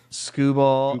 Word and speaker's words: Skubal: Skubal.